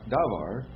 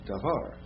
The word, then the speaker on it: davar: there's no accent so the accent is davar it's not davar it's davar right but when you get